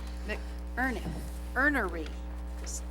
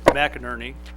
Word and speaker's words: McInerney: Oath of office to our new police officer, McErnery. Did I say it right or wrong? Yeah, it's McInerney.